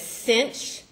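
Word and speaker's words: sinh: say it we say it as cinch rhyming with pinch okay but you often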